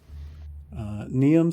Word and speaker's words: Niamh: Niam Stormchaser. How do you spell that?